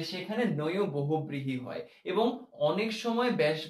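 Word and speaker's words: নঞ্ বহুব্রীহি: সবার কথা বলার চেষ্টা করছি আশা করি এইটা নিয়ে কেউ রাগ করবে না আমাদের এরপরের যেই প্রকারভেদ রয়েছে সেটা হচ্ছে নয় বহুবৃহী নয় বহুবৃহী উচ্চারণটা মনে রাখবে এই ন এবং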